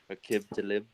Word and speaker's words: Aqib Talib: Well, I mean, Aqib Talib is back this week, so at least the secondary will be back intact, 100% now. But Aqib Talib.